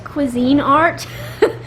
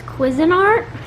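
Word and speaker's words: Cuisinart: I thought it was Cuisine Art, but the uh cashier told me it was Quisin Art.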